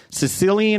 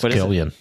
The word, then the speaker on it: Cillian: has a better work of film and television Sicilian Murphy or not Sicilian Cilan Murphy Killian Murphy Killian Murphy not Killian or Sicilian it's Killian cyan San pronounced it with a hard he